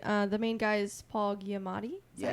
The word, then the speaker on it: Giamatti: Played the main guy is Paul Giamatti.